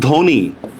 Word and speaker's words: ধ্বনি: আচ্ছা যেমন দেখেন ধ্বনি, বফলার উচ্চারণ হবে? নাই, কোনো উচ্চারণ নাই, ধয় ওকার, নরস্কার নি, ধ্বনি।